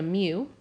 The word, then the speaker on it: mu: center that we use for populations is a mu that's how you pronounce this letter here to greek letter standard